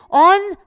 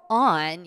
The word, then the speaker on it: on: 자 그다음에 날짜 앞에는 on 무조건 발음 조심하세요 온 아니고 on 이렇게 발음해 주시면 되겠습니다 입에 힘 푸시고 on